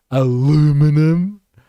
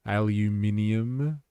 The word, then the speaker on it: aluminium: Canada is imposing dollar for dollar retaliation on tariffs targeting steel, aluminum. Eh? Nah, let's say it properly. Aluminium.